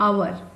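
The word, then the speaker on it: hour: Around मतलब लगभग, यहाँ पे एन आवर, हम यहाँ पे आवर प्रोनाउंस कर रहे हैं जिसमें एस साइलेंट होता है, इसलिए यहाँ पे वॉवेल साउंड आने के वजह से एन आर्टिकल का यूज करें।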